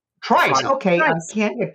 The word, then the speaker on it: Trice: We've now decided that is indeed the pronunciation of Trice. Trice.